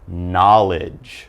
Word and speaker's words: knowledge: and then down to knowledge alright again no K sound we have knowledge now knowledge is all